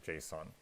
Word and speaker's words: JSON: It's called JSON, which you can see here, JSON, and that's pronounced JSON.